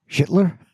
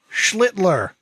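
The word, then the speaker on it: Schlittler: Schler. Schlitler. Schlitler. I got to put that L in there.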